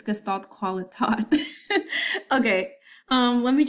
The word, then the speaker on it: Gestalt: so fun fact uh gestalt is actually a german word and the correct pronunciation is this i mean i could i could make an attempt of myself but honestly i do not want to embarrass myself i'm going to pronounce it anyways it's gestalt qualitative okay